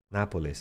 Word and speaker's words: Nápoles: Nápoles, acento en la A.